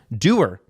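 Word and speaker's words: Duer: Not to be confused with Connor. Doer. But it's spelled D-U-E-R, right?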